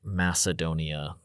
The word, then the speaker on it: Macedonia: I think I like Macedonia the best, but they would have pronounced it more like Macedonia because they didn't have s sound for C's. It would have been a k.